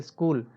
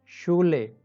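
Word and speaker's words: Schule: English में इसका स्क बनता है, सो बाय स्पेल स्कूल, बट यहाँ बनता है श। सो bye spell for example शूले, नॉट स्कूले।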